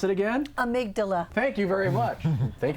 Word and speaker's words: amygdala: hub of the brain the how do you pronounce it again amygdala thank you very much thank you for me